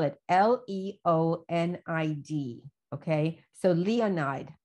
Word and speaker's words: Leonid: I'm going to spell it L-E-O-N-I-D. Okay. So Leonid. How would I pronounce that? Leonid, as in Leonid Brezhnev.